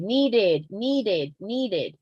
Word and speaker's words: needed: Pronounce the E and include. Needed.